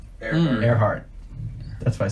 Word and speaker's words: Earhart: WCC is pedia yeah there's record archive Amelia Earhardt Earhart that's why I said it right Earhart she